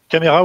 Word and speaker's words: Caméra: Caméra en français, avec un accent. Caméra, oui. Pas comme la chambre en italien.